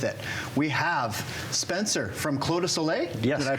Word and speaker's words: Clos du Soleil: to go with it we have Spencer from clo to Soleil yes did I pronounce that right you did awesome thank you